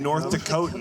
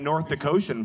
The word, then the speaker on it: North Dakotan: North Dakotan. That's the proper way to say that? Yeah, I don't know how else would you say it. North Dakotian, perhaps. No.